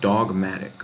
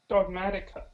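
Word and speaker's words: Dogmatika: So now, what I'm gonna do, you said look up Dogmatic, right? Dogmatica. Dogmatica. Okay, my bad. Dogmatica. Oh, it's spelled with a K.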